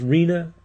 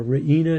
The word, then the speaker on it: Riina: Our last mafia leader, Salvatore, I guess it's pronounced Riina, or Riina, double I there.